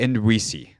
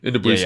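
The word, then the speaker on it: Ndubuisi: The guy from I'm gonna go with Hagai Ndwisi. Ndwisi is how you say his last name.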